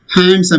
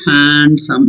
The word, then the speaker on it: handsome: Handsome in the same like handkerchief. Okay. D is silent. It is not handsome. It is handsome.